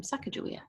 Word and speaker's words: Sacagawea: Next, I'll be reading a book about Sacagawea, or some people pronounce her name Sacagawea.